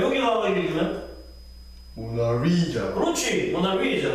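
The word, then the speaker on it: Mona Lisa: 모나리자. 그래. 여기 강하게 읽으면 뭐라고 읽습니까? 모나리. 아니죠. 모나리자. 모나리자가 되죠.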